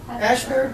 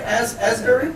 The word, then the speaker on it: Asbury: Ashbury, as God, is my saying it right? Asbury? Asbury Park, okay.